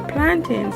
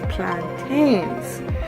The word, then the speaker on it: plantain: So, but we say plantain like how you say mountain, and you guys say plantains like how you say maintain.